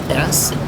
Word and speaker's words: Steinfeld: That's spelled like Jerry Seinfeld with the T, so it's Steinfeld.